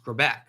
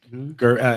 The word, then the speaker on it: Grbac: photos of the other Kansas City quarterback, Elvis Grbac.